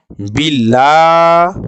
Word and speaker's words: بالله: জবরটা জের থাকার কারণে বাংলার ল আকারের মত উচ্চারণটি হবে বিল্লাহ হাজের হি বিল্লাহি আমরা